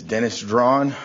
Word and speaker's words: Dennis Draughn: My name is Dennis Draughn. It's spelled D-E-N-N-I-S.